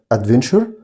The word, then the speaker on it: adventure: بعد كده مغامرة يعني adventure. طبعا TURE بنطقها كده شر زي كلمة future، برضو نفس الكلام.